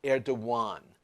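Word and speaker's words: Erdoğan: last name is pronounced air Dewan the G has an accent on it and in Turkish it's pronounced as a W Turkish president precipitate air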